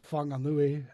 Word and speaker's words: Whanganui: uh, yeah, and Whanganui, and they're all spelled with W's and H's for some reason instead of an F.